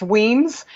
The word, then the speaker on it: Wemyss: name and heritage but it's impossible to remember or spell or pronounce so it's Wiens w e my SS with an IE look me up on LinkedIn and